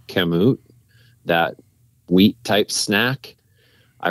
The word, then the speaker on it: Kamut: during the day too um I think it's pronounced kamut that wheat type snack I really like that